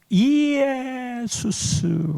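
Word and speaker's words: Ἰησοῦς: 헬라 말로 예수를 쓸 때는 이에수스 그래요. 영어로는 발음상으로는 제수스이지만 이거를 지저스라고 읽지요.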